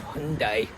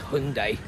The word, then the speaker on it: Hyundai: Actually, no, it's not Hyundai, it's pronounced Hyundai. According to the Koreans, it's Hyundai. But, you know, we always pronounce it UK like Hyundai or Hyundai or something. I think it's Hyundai.